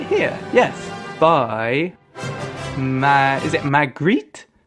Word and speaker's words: Magritte: is it Magritte? Magritte? How do you pronounce it? Put these foolish ambitions to rest. René Magritte.